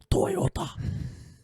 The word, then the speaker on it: Toyota: Okay, it's pronounced Toyota.